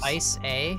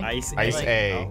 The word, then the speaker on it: ICA: it in the ICA I actually pronounced ice a okay ice a yeah all right I